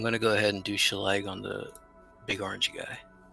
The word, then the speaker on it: Shillelagh: do a first level spell and then use Shalag? Shalag? I don't know how to pronounce it. Is it a Oh. cantrip? Yeah. Yes, you can do. Let me see. It's Shillelagh. Chilele.